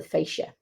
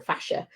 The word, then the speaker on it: fascia: but it's just about the fascia or fascia, depending on how you pronounce it.